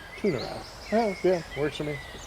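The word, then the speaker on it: Tu'narath: I believe it's called Tunarath. So, T-U apostrophe N-A-R-A-T-H. Tunarath.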